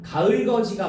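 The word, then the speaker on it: 가을걷이: 가을 거디야? 가을 거지야? 가을. 어, 좀 발음이 좀 이상하지만 가을거지가 맞아요.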